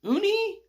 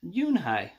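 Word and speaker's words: Unhei: Your name is Uni? He asked with his eyes open wide. Yunhai looked quickly at Mr. Kim, then turned to Joey. She nodded slowly. Yes, it's pronounced Yunhai.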